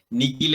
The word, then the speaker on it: nihil: knox y negocios y nikhil es una palabra interesante porque la h recuerden que se pronuncia como una k nikki acuérdense que en